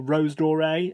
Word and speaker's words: Rose Doré: This is Rose Doré, or Rose Doré, if you want to pronounce it with an English accent.